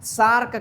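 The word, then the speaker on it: SAARC: सार्क country तो क्या सार्क यानी एस ए ए आर C country नहीं कहते ना क्या हम कहते हैं सार्क कंट्री तो हम क्या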